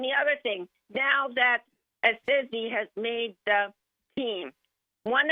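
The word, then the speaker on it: Esezi: It's like and then S-A-Y in bold letters. That's like what you stress. Assisi.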